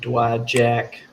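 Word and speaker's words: Dowagiac: Grandma lived on Dewey Lake and Dowajak for 50 years. The I is silent.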